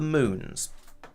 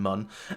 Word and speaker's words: Mun: have numerate over it so it is sort of more or less pronounced Moon rather than mun um I'm sure the